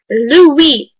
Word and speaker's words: Louis: is blue bear okay it's boo bear anyway Louie that Lou is Lou we l owe you